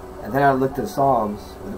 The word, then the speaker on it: Psalms: And then I looked at Psalms with a P. P-S-A-L-M-S. P is silent.